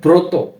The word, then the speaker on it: ব্রত: থ ম কি হয় প্রথম এরপর শব্দ রয়েছে ব্রত ব র ফলা ব্র ত কি হয় ব্রত